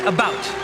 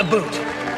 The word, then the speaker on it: about: French not American and I pronounce it about not a boot I can proudly sew